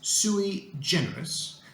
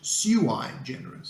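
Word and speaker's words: sui generis: to even pronounce it this one has a dual pronunciation in other words it can be pronounced in two different ways the one that I prefer is sui generous but some English speakers pronounce it Sue I generous so you can choose if something is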